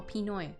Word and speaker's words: Pinoy: Oh, Pinoy.